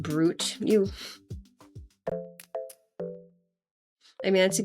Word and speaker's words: Brut: Is pronounced brute.